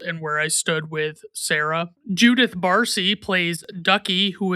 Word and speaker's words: Cera: Candace Hudson plays Sarah, who is a Triceratops, and Sarah is spelled Cera, like in Triceratops.